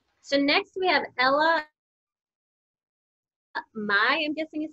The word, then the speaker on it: Mai: So next we have Ella Mai, I'm guessing is how you say her last name, M-A-I?